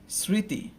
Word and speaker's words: স্মৃতি: আমি যদি বলি স্মৃতি, শ্রী, স্মৃতি, তাই না? আমরা কিন্তু স্মৃতি বলি না, হ্যাঁ, ময়ের উচ্চারণটা করি না, আমরা শুধুমাত্র স্মৃতি বলি। তো সেক্ষেত্রে আমার উচ্চারণটা কি হবে?